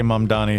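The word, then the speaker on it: Mamdani: Everybody say mom Donnie. Spell it.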